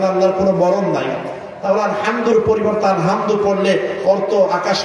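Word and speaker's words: الحمد: আর যদি আপনি এটাকে হা পড়েন আলহামদু, বাংলাতে উভয়টার উচ্চারণ হ দিয়ে, আর কোনো শব্দ নাই। হার উচ্চারণ হ, হার উচ্চারণ হ।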